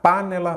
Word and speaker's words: panela: vamos lá par nela Qual que é a sílaba tônica panella panela ou panela panela então é a penúltima aí você já sabe